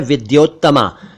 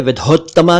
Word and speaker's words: विद्योत्तमा: में उत्तम है विद्योत्तमा कुछ लोग इसे विधोत्तमा कहते हैं कुछ विद्योत्तमा कहते हैं जबकि यह है विद्योत्तमा एक शब्द है आद्य